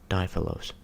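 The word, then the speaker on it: Δίφιλος: instead of a phrase, we took out the second I and pronounced the second syllable with a grave accent instead of an acute diphilos. In other cases, we do the opposite, inserting letters and pronouncing a syllable with an acute accent instead of a grave.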